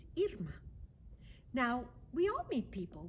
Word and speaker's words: Irma: It looks like Irma to some of you, and that is one pronunciation of this name. But the name my parents gave me is Irma.